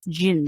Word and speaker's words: djinn: know jeez alrighty Rue we are going to talk about gin not Jens or jdubs it's Jin how do you spell